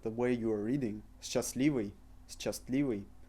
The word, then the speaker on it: счастливый: Счастливый. Can you hear the way I'm pronouncing it? Счастливый. This is the way we would read this word. However, Russians pronounce it счастливый. We replace s-cha with sh, счастливый.